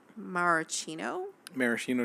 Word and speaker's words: maraschino: Maraschino cherries.